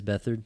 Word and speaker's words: Beathard: You had Beathard come in, or however you say his name. Yeah, C.J. Beathard. Beathard, right? Yeah. It is Beathard, yeah.